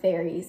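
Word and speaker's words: faeries: I think they're called they're called fairies right it's spelled like f a e r i e s I clearly don't know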